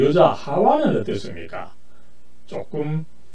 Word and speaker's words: 하와: 이 원어 히브리어에 있어서 그 원어의 발음법은 하와입니다.